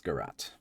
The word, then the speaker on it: garrote: Okay, it's Garrote.